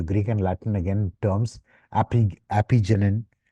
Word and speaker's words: apigenin: Apigenin, okay, or epigenin as some people pronounce it, is an important molecule.